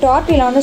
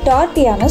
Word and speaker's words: tortilla: இந்த டார்டியாவை ஒரு சில பேர் டார்டிலான்னு சொல்லுவாங்க. நம்ம எழுதும் போது டார்டிலான்னு எழுதுவோம், ஆனால் இதை ப்ரொனவுன்ஸ் பண்ணும்போது டார்டியான்னு சொல்லணும்.